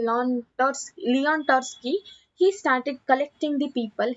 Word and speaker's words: Trotsky: Lenin Trotsky. Here T is silent, so that is Trotsky.